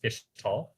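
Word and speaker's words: Ixtal: Next, we have a side civilization called Ishtal, pronounced Ishtal.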